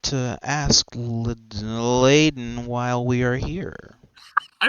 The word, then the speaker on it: Ladon: It's Ladon. I know a lot of people confused. It's pronounced Ladon.